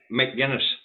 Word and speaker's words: McGuinness: It's McGuinness. McGuinness, not Mac.